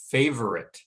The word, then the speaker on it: favorite: here is an example the word favorite favorite that first syllable receives the primary stress and because of that the second syllable is quite weak and it's so weak that most native speakers of english when they're speaking fluently will not say favorite but say favorite and they drop that middle sound so it gets